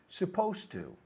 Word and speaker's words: supposed to: to be done right in the D we don't pronounce because it always goes with the T so it sounds more like a t supposed to as opposed to supposed